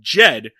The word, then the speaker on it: Jed: I always try to like say Judd Clampett, but it's Jed because it very clearly rhymes with Fed in the theme song.